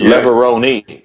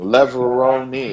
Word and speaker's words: Levrone: that they will know how to pronounce my name you know it's Leoni just in case learn something Leoni it's Italian learn learn father my mother's